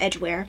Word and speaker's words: Edgware: Started Lord I guess it's pronounced Edgware, even though there's not an E in there.